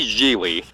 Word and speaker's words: Gigli: movie starts off with Larry jeely rhymes with really waxing pseud of philosophy